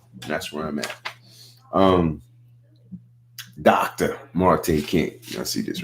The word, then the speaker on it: Marte: Marte King. And it's pronounced Marte, not Marty, Dr. Marte King.